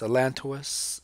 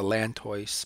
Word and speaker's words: allantois: How that's pronounced, allantois. I always learned it the lantois, but allantois.